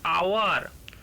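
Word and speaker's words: hour: एन आवर लिखते हैं, क्योंकि आवर का स्पेलिंग है एच ओ यू आर, लेकिन उच्चारण के समय होता है ओ यू आर, उसमें एच का उच्चारण ही नहीं होता, इसीलिए उससे पहले था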